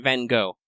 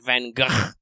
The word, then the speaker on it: Van Gogh: Apparently, the Dutch pronunciation is more like Van Gogh. We don't have enough of we don't use a lot of the guttural stops in English, so you're okay saying go.